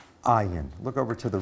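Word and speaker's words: אין: The Hebrew word Ayin, actually there are two Hebrew words that are both pronounced Ayin.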